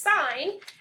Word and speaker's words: sin: it does not pronounce sin it is actually pronounced sign si en is just